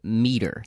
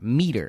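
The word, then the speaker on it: Meater: And it's called Meter, spelled like meat. M E A T E R. Meter.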